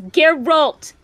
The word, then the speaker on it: Geralt: It's Geralt. Geralt. God fucking son of a bitch-ass mother trucker. Stop it! I love pronouncing names wrong to annoy you.